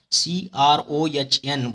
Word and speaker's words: Crohn: देखो क्रोन्स का स्पेलिंग थोड़ा सा यहाँ पे मिस्टेक हुआ है, CROHN बोलते हैं इसको।